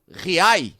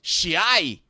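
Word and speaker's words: Giay: Chegaram os meias Felipe Anderson e Maurício, o lateral direito Diai, ou Riai, como ele explicou, ou Chiai, na pronúncia portenha, e que pode ser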